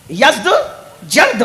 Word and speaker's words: یزدجرد: اس کا بیٹا تھا جس کا نام تھا یزدجرد، اس کو یزدگرد بھی کہتے ہیں ایرانی لب و لہجے میں، عربی میں یزدجرد کہتے ہیں.